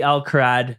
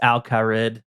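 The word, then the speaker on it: Al Kharid: It'll always be Al-Kharad to me, even though I know it's Al-Kharid. It just that doesn't sound right. Well, there's an I there, not an A, so I mean, I'm not sure who taught you, Dills.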